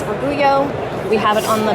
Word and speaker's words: Orgullo: We have it here as a way to show how to pronounce Orgullo, We have it on the back as well.